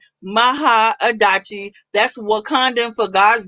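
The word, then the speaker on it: Mahaadachi: uh so it's it's it's pronounced phonetically in the way it's spelled m-a-h-a-a-d-a-c-h-i maha adachi that's what condom for god's daughter so don't try her okay but it is maha adachi on all platforms everywhere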